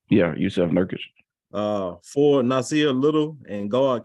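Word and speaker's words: Jusuf Nurkić: Did I pronounce that right? Yeah, Yusuf Nurkic.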